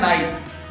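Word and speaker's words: knight: और वर्ड होता है नाइट नाइट का मतलब होता है योद्धा यहां एनआईजीएसटी वाला नाइट नहीं होता के एन आई जी ह टी वाला नाइट होता है जहां के सारे होता है silent word rule number five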